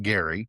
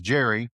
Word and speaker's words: Gerry: Though history got the pronunciation wrong. He said it with a hard G like Gary, and history remembers it as Jerry, as in Jerry Mandering.